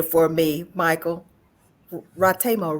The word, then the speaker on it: Ratemo: and pronounce your last name for me Michael ratemo right yeah so uh it it varies the original pronunciation is Michael rmo but a lot of people pronounce it rimo so either or works for me and uh